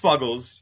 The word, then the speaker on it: Fuggles: Boston area stop it's uh actually it's it's pronounced fuggles if if you want to uh you know